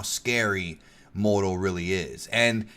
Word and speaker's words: Moro: And in case you're wondering why I pronounce it Moro and not Moro, I think it's because I'm Hispanic. I'm of Hispanic heritage, and we have food. I'm Cuban, and there's a Cuban food called moro. So I'm just so used to pronouncing it moro with the tongue up.